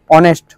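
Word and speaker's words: honest: একটা জিনিস কি বলতো আমি বলেছিলাম যে অনেস্টের এজ অনেস্ট এগুলো যে এটা আছে ওটা কি হয় ওটা হচ্ছে সাইলেন্ট থাকে দেখ অনেস্ট বাংলাতে লিখে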